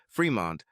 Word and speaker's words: Fremont: Smith and two brothers Fremont pronounced fremon and tront pronounced Tron